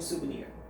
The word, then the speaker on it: souvenir: We often bring home souvenir. 자, these souvenirs 이러한 souvenir 발음 잘 보세요. so가 아니라 su 이렇게 발음합니다.